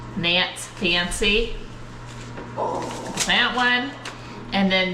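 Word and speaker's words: Nantes: Nance. Nance.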